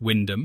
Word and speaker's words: Wymondham: Wymondham, pronounced Windham, and locals will note